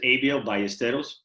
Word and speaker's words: Abiel Ballesteros: don't you introduce yourself uh my name is abel by esteros it's uh i've been um you know raised